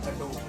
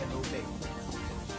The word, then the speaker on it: Adobe: So it's not Adobe, it's Adobe. That's the correct pronunciation.